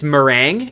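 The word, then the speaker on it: Merengue: I know how I want to pronounce it, but I know it's completely incorrect. Little Noob says it's meringue.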